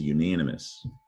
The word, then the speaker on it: unanimous: it's tricky to read it does not start with the syllable on it starts with you yeah that letter u sometimes says its name you says you that's a rule uh